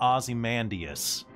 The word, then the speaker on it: Ozymandias: osmandius platinum osamandrius but pronounced like a british person pronounced as america platinum ozymandias kind of like gravelly